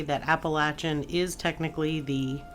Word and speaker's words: Appalachian: the strange and paranormal stories from along the Appalachian National Scenic Trail or the Appalachian National Scenic Trail, depending on where you're from. Either pronunciation is acceptable. Though I will say that Appalachin is technically the correct way because it's named